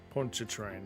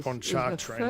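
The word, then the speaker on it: Pontchartrain: It matches the scale from Lake Ponchet train. He places the two scales together. Poncher train, not ponchart train. like I've been saying it wrong.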